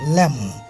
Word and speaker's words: lamb: You don't say, and I get to go to lamb, no, lamb. Lamb. MB thakle, A uccharon hoy na, I mean B uccharon hoy na.